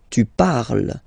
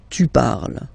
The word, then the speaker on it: parles: So you've got the two first forms, you pronounce them the same way. You write them differently, of course, because you've got E here, and then you've got E and S, okay? But then phonetically, they are the same.